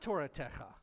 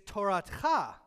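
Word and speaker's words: תּוֹרָתְךָ: Except it's not Toratecha. It's Toratcha. Because there is a silent vowel underneath the tav. And the pronunciation goes where the vowel is.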